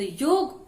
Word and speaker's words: योग: तो हमें ये जान लेना चाहिए कि योग क्या है और योगा क्या है। हम भारतीयों का उच्चारण जो है योग होना चाहिए, योग ही जानना चाहिए, योग